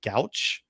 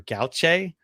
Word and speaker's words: gouache: It looks kind of like gouache or gouache.